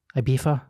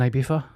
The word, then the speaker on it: Ibiza: I just said it you say it again Ibiza Ibiza FIFA okay that's how I said it